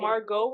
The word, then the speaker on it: Margot: Margaret Robbie or Megan Margot Robbie? Bitch, I don't fucking know. The T is silent. Why? It's T there. Because it's French.